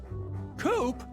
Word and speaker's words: Coop: Coop? That rhymes with scoop.